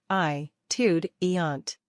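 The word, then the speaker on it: étudiante: student is an atudent iude eant note that the final consonant is pronounced only in the female form many occupations have only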